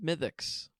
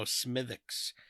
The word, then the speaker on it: Smithwick's: I think it's pronounced Smithix. I've heard Smithix? that. I've heard that said in a bar.